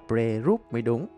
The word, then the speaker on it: Pre Rup: The correct pronunciation of this temple is "Pre Rup."